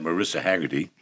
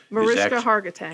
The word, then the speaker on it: Mariska Hargitay: The recent news is the revelation that Marissa Haggerty, Mariska Hargitay. Hargitay, I have to say it right.